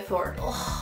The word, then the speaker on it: Thor: ¿Cómo se llama el martillo de Thor? ¡Ay, oh, mil! Es que nunca sé pronunciarlo.